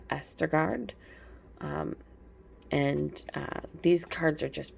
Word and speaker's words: Østergaard: I recently learned I was saying the name wrong. It's Østergaard.